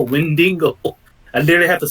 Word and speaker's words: Wendigo: It's funny because I said Wendigo and everyone's like Mandingo. I'm like, no, Wendigo.